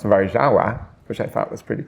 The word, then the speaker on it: Warszawa: the word garbage and the city Warsaw, which in Polish is pronounced Warszawa, which I thought was pretty cool.